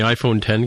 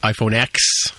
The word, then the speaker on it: iPhone X: Yeah, like I did with when the iPhone 10 came out, and on my signature at work, I had iPhone 10 spelled out phonetically, so that people could see that it's not iPhone X.